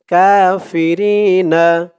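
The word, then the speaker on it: الكافرين: লা ইয়াত্তাখিযিল মুমিনু, নাল, নুন দিয়ে এলাম ধরবে, নাল মুমিনুনাল কাফিরিনা, কা এক আলিফ টান, খারা জবর, ফি, রি, রি এক আলিফ টান, জেরের পরে ইয়া সাকিন, কাফিরিনা, কাফিরিনা।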